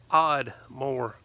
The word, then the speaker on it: Ardmore: a small country town it is called Ardmore over there they pronounce it odd more and I couldn't agree